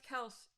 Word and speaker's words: Kelce: It could be spelled with a Y, and I would still probably have said Kels, because I don't pay attention.